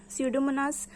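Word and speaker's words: Pseudomonas: स्यूडोमोनास. स्यूडोपोडिया भी पी से शुरू होता है बट साइलेंट होता है, तो हम लोग पी नहीं बोलते हैं.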